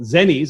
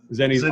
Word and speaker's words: Zennies: First Genesis has a product called Zennies. Am I pronouncing that correct, Mark? It is. Zennies, awesome.